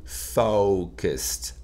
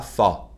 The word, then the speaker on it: focused: Le O, c'est la clé de ce mot. Si vous le prononcez mal, vous allez dire quelque chose de très mal. D'accord? Oh, entraînez-vous. Oh, focused, focused, focused. Pas fa. Là, ça va pas aller du tout.